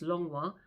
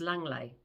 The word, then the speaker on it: Langlois: It's spelt Langlois, and in Jersey we pronounce that as Langlois. In Guernsey they pronounce that as Langley or Longley.